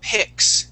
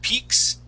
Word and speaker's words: picks: Okay, this word here is picks instead of peaks. Okay, we use a short I sound.